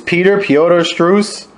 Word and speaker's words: Piotr Strus: Your opponent is I don't even know how to pronounce his name. It's Piotr Struss.